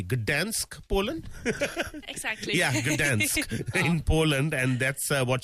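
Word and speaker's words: Gdańsk: Yeah, Gdansk in Poland, and that's what she won.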